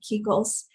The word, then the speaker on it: Kekos: Brace yourself because introducing Brooke Kekos. I hope I pronounced your last name correctly.